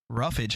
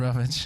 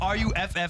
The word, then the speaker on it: roughage: roughage. Yeah, I don't know. Spelled like that? Usually it's RUFFAGE. Yeah. Stop it. There's no RUFF. That's a dog going rough. No, it's roughage.